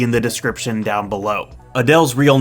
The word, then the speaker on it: Adele: Also, apparently the correct pronunciation is Adele.